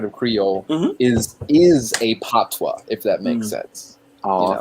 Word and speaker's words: patois: what sammy just posted that's pronounced patois you're saying we speak english yeah you know the toys language in jamaica and we in jamaica we speak patois but you also like